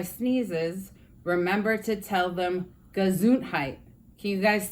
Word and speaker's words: Gesundheit: instead of saying bless you you could say gesundheit that's the way to say it in German